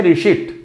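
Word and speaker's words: receipt: piece कमी नहीं आएगा लिखा हुआ था रिसिप्ट बोलते हैं रिषित ऐसा नहीं कि रिस्ट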